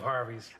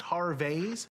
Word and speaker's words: Harvey's: i said watch this man i love harvey's actually it's pronounced har vase with a canadian eh that's not how you